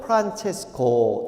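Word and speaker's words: Francesco: 이태리 말로는 프란체스코, 이렇게 발음을 하죠.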